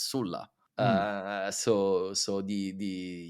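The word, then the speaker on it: Sulla: so yeah of course in English and Latin in Italian it's Sila I don't know why we change it but in in English you kept the the actually the the correct version which is Sula uh so so the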